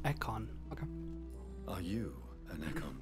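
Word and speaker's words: Ekon: that you shall remain oh that's how it's pronounced eckon okay are you an econ too yes i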